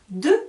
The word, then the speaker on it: deux: j'écris le chiffre 2 alors deux ça s'écrit des e -u ips attention le français est un peu bizarre j'écris un x mais avec la lettre e je vais entendre le son j'ai deux enfants c'est pareil avec le